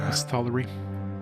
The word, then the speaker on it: Misthallery: Misthallery. There, we finally got a pronunciation of it.